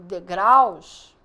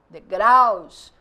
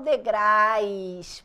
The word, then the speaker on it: degraus: problema então vamos lá quando eu tenho degraus é com u não é com l degraus o a é falado com mais força o u é mais e fraquinho tanto que tem gente que bota no plural degrais porque acha que é l não meu querido é o que tem aí então degraus É só